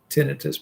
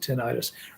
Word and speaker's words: tinnitus: for tinnitus if you i think it's correctly tinnitus but a lot of people pronounce it tinnitus ringing in your ears